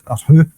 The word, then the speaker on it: Ho: bring Ho on as who. His name's Who, and bring him on as a substitute. It just sounds funny saying Who. I mean, it's Casper especially when it's spelt Ho.